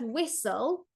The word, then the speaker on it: whistle: We have that silent t in the s in the graphim there so